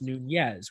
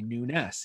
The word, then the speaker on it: Nunes: And the reason for that is a lot of people will think that Nunes is pronounced Nunez, which is the Spanish way, but we pronounce it the Portuguese way, Nunes.